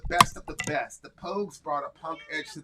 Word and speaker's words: Pogues: The Pose? The Pogues. P-O-G-U-E-S. I think.